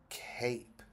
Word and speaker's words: cape: it doesn't say cap it says c a cape now it says Cape which is what some